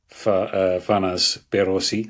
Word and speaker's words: Farnaz Behroozi: Fanas Berosi. I hope I've said your name perfectly there pronounced I have perfect you and you've